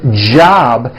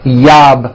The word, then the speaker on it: job: So, for example, the word job has a J at the beginning. Job. It's never yob, my yob. It's always my job with a strong J sound.